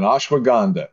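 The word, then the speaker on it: ashwagandha: to humanity ashwa ashwaganda Caba Maka did I mispronounce it tell me no no no you're right on ashwag gandha yeah okay Cava Maka Rola and on and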